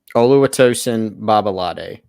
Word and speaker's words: Oluwatosin Babalade: this out of the way give the accurate pronunciation of big tree's name oluwatosin babalade although it tells that perfect chris so or